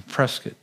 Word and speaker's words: Prescott: He was in a hospice care up or a hospital up in Prescott. I said it right, Prescott, right? You don't say Prescott, you get in trouble when you do that.